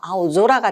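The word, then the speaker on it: 青空: 그럼 아오 소라가 될 것 같지만, 뒤에 있는 소라에, 그렇죠. 땡땡을 붙여서 아오조라가 된다.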